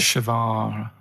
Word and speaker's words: Che Guevara: Che is like shake. And his his surname is like guitar. Right. Che Guevara.